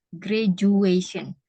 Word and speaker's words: graduation: Salah ya, yang benar graduation.